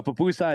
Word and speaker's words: pupusa: A pupusa, it's spelled Pupusa.